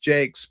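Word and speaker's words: Jaques: It's pronounced Jakes, but it's J A CQ, Jakes of London chess set.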